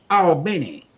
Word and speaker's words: Albany: your ass quick because it is pronounced albany yeah okay cause trust